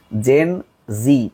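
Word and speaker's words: Gen Z: মনে হয় পারে নাই জেন জি আসলে জেড টাকে উচ্চারণ করা হয় জি তো এর জন্ম সময়কাল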